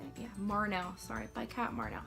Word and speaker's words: Marnell: Yeah, Marnell, sorry, by Kat Marnell.